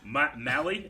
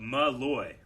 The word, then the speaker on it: Malloy: Mally is what I said, but Malloy.